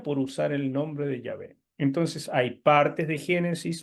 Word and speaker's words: Yahvé: El nombre de Dios en hebreo es Yahvé, pero los alemanes usan la J nuestra para pronunciar la letra Y, ¿entienden? La Y. Ellos no, la Y en alemán no suena así. Entonces, en alemán, ellos dirían Jehová, en alemán.